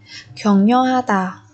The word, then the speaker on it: 격려하다: Ở đây chúng ta có biến âm 켜 và 려 đọc thành 격려 격려. Tức là bà chim ghi giọt này chuyển thành y ưng, còn ri ẩn chuyển thành ni ẩn các bạn nhé.